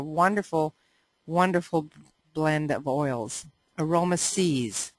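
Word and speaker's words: Aroma Siez: wonderful blend of oils Aroma sees that's how you pronounce that and here's panaway I'd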